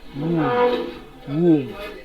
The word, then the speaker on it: womb: here is pronounced as womb, and the underlying letter is letter O. For let us transcribe this so that we can get the correct option. Womb. The letter B is silent.